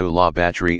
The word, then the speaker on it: Bayou La Batre: viola battery you that's in Alabama people you by law battery is a rural town of about 2,500 people